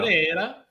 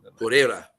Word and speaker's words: Pereira: But I think And that's wrong because it's Brazilian, so I should be saying an Italian accent. I think it's how do you say that in the Brazilian accent? I'm not good at it. Pereira. That's better.